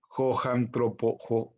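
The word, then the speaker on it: ὁ ἄνθρωπος: Y aquí viene cambiado el espíritu para solo repasar la pronunciación de los espíritus. Joantropos. Y la transliteración de esta palabra o de esta expresión es joantropos. ¿Por qué antropos? Porque tiene una omega que es una O larga.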